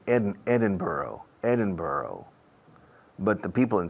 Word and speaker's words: Edinburgh: how do you say it well really the Americans say Edinburgh Edinburgh but the people in Scotland and England